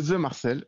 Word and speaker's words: The Marcel: c'est ça c'est ça c'est ça c'est le the Marcel ou oui c'est un nom un petit peu